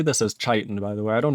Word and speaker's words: Chaitin: I'm going to say this as Chaitin, by the way.